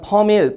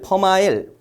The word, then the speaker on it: 퍼밀: 자, 이렇게 생긴 거는 퍼밀, 퍼마일, 퍼밀리지라고 읽습니다. 이렇게 생긴 거는 이제 천분율.